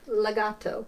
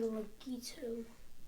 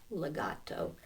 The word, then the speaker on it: legato: you don't that's it Legato I was I was wanting to say legito well so see that a right right there yeah Legato and it's the opposite